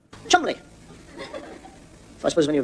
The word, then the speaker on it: Cholmondeley: I mean, you get a name like Cholmondeley. Don't pronounce Cholmondeley. Chumley.